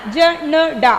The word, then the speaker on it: झंडा: Jhanda. Here we will pronounce na. Jhanda. Tha, the ending letter na we have to pronounce.